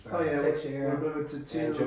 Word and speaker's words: Teixeira: yeah, Teixeira we're moving to and two.